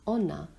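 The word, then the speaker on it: 女: which country is for male the female country pronounced honor looks like a woman with her legs crossed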